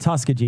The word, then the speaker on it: Tuskegee: Tuskegee, yeah. This Yep. is the Tuskegee. Tuskegee. Thank you. I never Thank pronounced you.